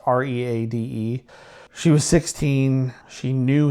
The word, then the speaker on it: Reade: The first of their victims was Pauline Reed or Reedy. I'm not sure how to pronounce it. It's Reade.